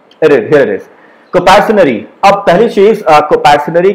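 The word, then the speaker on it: coparcenary: इसको हम लोग प्रोनाउंस करते हैं कंपैरिजनरी।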